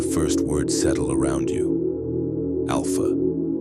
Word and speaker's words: Alpha: Alpha, pronounced alpha. The journey begins. You might notice it's not spelled like the Greek letter alpha. That was on purpose. The creators wanted to make sure no one, no matter their native language, would accidentally pronounce it with a PH sound.